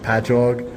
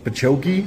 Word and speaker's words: Patchogue: I'm from Long Island, and the cities that we have, it'll be like Patchogue, and they'll be like Pachoki, and I'm like, no, it's just ingrained into my brain that I know how to say them.